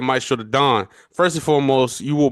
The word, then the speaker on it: Maestro Da Don: Yeah, Maestro Da Don. Maestro Yep. Da Don got you. Maestro Da Don for sure, for sure.